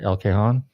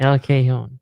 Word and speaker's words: El Cajon: El Cajon? Is that how you pronounce it? Because J's not pronounced right or something. El Cajon. Yeah. El Cajon, something like that.